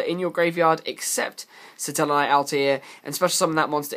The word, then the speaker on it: Altair: Satellarknight Altair, or some people will debate the pronunciation, but I like to think it's pronounced the same way as the Assassin's Creed guy, Altair. This guy has a similar